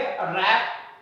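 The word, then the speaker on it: wrap: इसको हम राइट पढ़ेंगे रॉन्ग पढ़ेंगे रैप और रिस्ट हो जाता है एक्स्ट्रा। ये डब्लू साइलेंट है।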